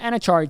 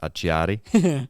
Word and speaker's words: Acciari: So credit to Martin and Achari too for willing to do that, especially coming back from an injury. That was a fantastic answer, Ed. Yeah, I actually think it's pronounced Acciari.